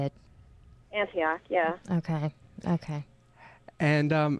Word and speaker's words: Antioch: right yeah is that how you say it Antioch yeah okay okay and um how do you